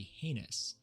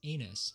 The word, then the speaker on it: heinous: A slow or weak recruit is said to be heinous, which many recruits and in fact drill instructors have misheard and will continue to mispronounce as anus for their entire career.